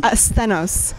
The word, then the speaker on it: Sthenos: Asthenos. It's the Greek name for strength.